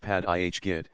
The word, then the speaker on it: Paerdegat: from shore parkway P to Gat Basin pronounced pad IHG is a channel that connects to Jamaica Bay